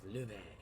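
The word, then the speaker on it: Loewe: He is Luve. Sounds kind of French.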